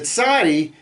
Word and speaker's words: Tsadi: The Tsadi is more like a TZ or TS sound, as in Tsar.